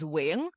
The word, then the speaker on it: Nguyen: say it now well I still say I grew up saying I know in Vietnamese is wi just like the one syllable but when people say wi that one syllable if they can't say it it it hurts my ears more than just saying I think new is